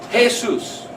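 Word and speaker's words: Jesús: pronounced ha Seuss well in Spanish the letter J is pronounced as an H hey soos is the Spanish name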